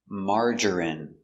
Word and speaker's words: margarine: M. A. Open sound. Amar. Mar. J- strong J. Marger. Marger. I marerie. Margarine. Margarine. Margarine. Margarine. Three syllables. Stress only. First syllable. Mar. Margarine.